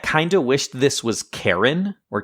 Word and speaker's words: Charon: of wished this was Charon, or Charon, however you pronounce it. I think it's Charon, because I think Charon is more how you would pronounce the Guide to the Underworld.